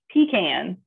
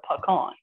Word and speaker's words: pecan: okay oh okay um i would say pekon but is it pekka we other people say pecan which we said no no no it's not peas in a can it's a pecan if you say that quick it sounds rude right oh give